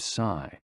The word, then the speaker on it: si: shh, with a deep sigh, which is associated with the liver. HE, pronounced like her, with a yawn, which is associated with the heart. SI, pronounced like sir, with a slow exhale, which is associated with the lungs.